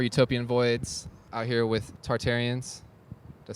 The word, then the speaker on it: Tartarians: All right, this has been Tom for Utopian Voids out here with Tartarians.